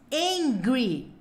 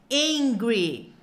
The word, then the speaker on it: angry: bravo tão com fome tem um h no começo então se não tem que fazer hungry hungry e o bravo é angry hungry e angry hungry hungry angry angry